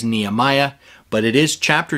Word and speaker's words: Nehemiah: the book of okay now the proper or closer to proper way to say this in Hebrew would be nechemya or nechum Yahoo but we often hear it in English as Nehemiah but it is chapter 2 and verse 13.